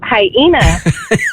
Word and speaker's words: hyena: And I was like, it's hyena.